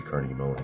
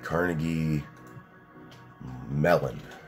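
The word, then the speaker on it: Carnegie Mellon: still got accepted to Carnegie Mullen which is a top tier School in Pittsburgh how the hell do you spell that it's obviously Carnegie melon I said Mullen like the [ __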